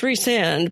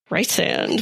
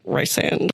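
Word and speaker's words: Rhysand: name, but you know, in the British Welsh kind of language, Ree is spelled Rhys. So, I figured it was Reand. So, I looked it up and it was like it's pronounced Reand, but in some countries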